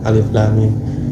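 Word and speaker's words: الم: harokat, emang enggak panjang, tapi lam itu panjang, alif lam 4 harokat. Harokat itu ketukan. Lam. Nah, mimnya ditahan dulu, 2 harokat, 2 ketukan. Alif lam mim. Mimnya juga 4. Itu cara membacanya.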